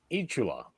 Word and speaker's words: Eat Chula: Eat Chula. Okay. Like as in tarantula.